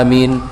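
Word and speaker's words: آمين: tanpa ada yang dikecualikan cara membacanya sama yaitu Hamzah dibaca panjang AB kemudian mim dibaca taksis atau tanpa Rashid Mein jadi apa Amin by itu cara membacanya wallahualam bissawab yang kedua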